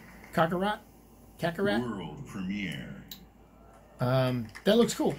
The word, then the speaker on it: Kakarot: Not a cockroach. Kakarot.